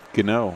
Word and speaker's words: Geno: Yeah, it's Geno. I got that from the coach over there. I want to make sure we try to get some of these pronunciations right.